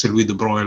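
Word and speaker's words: de Broglie: Mr Lou the bro how do you say Louis the Bro the I don't know how in French it's de bro that says French he's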